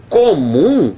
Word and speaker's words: comum: passo oxítona paroxítono proparoxítona comum tá fora rapaz comum é uma palavra oxítona então não tem nada